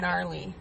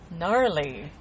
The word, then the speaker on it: gnarly: Gnarly. Gnarly. I like gnarly. Gnarly. It's fun to say. Spelled with a G.